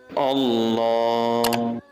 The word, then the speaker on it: Allah: If the previous letter before Lam has Fataha or Dhamma, then the sound of Lam should be thick. If you see Kasra before Lam, pronounce it normally. Remember, this rule only applies to the word Allah.